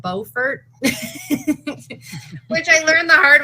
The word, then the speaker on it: Beaufort: Because I called it Beaufort, and they said, "Oh, No, Buford is in No, South. I'm Buford. Yeah, this is Beaufort. And I was like, oh, they're spelled the same. And they're like, well, you're in Beaufort.